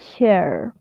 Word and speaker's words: share: 6 de share y se escribe share con s h share y se dice ser lista donde ya tenemos